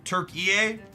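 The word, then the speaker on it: Türkiye: out phonetically in English I'm supposed to pronounce that country name not as turkey Turk EA Turk EA there's like an a at the end Turk EA there like three three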